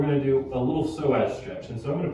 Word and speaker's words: psoas: So psoas is spelled with a P, P-S. So push the knee up. The P is silent like pterodactyl.